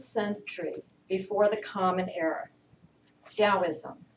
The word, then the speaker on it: Taoism: before the common era taoism spelled with a t but pronounced with a d depends on what dialect you're working with taoism infinity in your hand